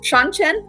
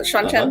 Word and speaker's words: Seanchan: So the Seanchan, is that what they're called? Mhm. Is that how you Yes. pronounce that? Seanchan, right?